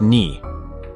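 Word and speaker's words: 二: of Yume Nikki, and in Japanese 2 is pronounced ni.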